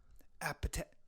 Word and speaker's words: apathetic: two please pronounce the please pronounce the h apathetic no appetite we're not we're not appetizers you couple apathetic it's not athetic it's appey apathetic it's a like thing